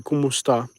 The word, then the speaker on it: kumusta: um is komusta k-u-m-s-t-a kumusta which sounds if you speak spanish very similar to homo estas how are you and that